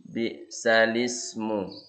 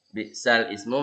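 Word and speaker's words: بئس الاسم: Bi'salismu. Bi'sal ismu bacanya bi'salismu.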